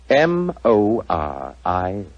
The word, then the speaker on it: Moriarty: m-u-r-t-r-y no dear me i have so much trouble with my name people will either misspell it or mispronounce it i'm afraid i'll have to begin calling it the way it looks m-o-r-i-a-r-t-y moriarty i shall remember that